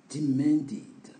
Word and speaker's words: demanded: demand exigé demanded donc ça c'est un verbe don la prononciation on attend ID à la fin parce que le D est une lettre forte et comme je vous ai dit lorsqu'on a une lettre forte le ID devient le de E D devient